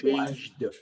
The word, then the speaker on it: changed: this situation, you have to pronounce the final D, like changed, Changed. changed. Changed. But it's not changed yet, it's changed. You connect the J sound with the D, changed, changed.